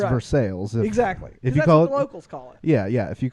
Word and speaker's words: Versailles: you know it's versailles it's versailles but it's for sales exactly yeah yeah if you call it versailles you'll get smacked from someone from for sale